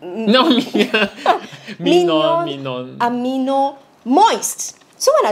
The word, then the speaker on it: Minon: My number one is, drumroll, this pink lady over here, ta-da, which I cannot pronounce the name for the life Minon? Of me. Minon, Minion. No, Minon.